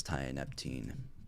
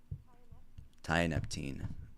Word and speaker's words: tianeptine: right before I go on I think it's tianeptine pronunciation yep tianeptine so uh yeah I did that okay the